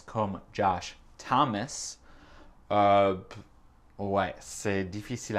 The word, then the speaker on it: Thomas: Elle a dit Josh Thomas, parce qu'en français, le prénom c'est Thomas. Mais en anglais, c'est Thomas. Ah, parfois le O, c'est un A. Ouais. Et l'accent tonique, c'est dans le premier syllabe. C'est Thomas, c'est pas Thomas.